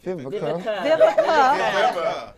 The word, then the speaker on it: Vivica: Talking about these remakes and shit, but That's what we Viva, I might always say her name wrong. Viva A. Fox, Vivica.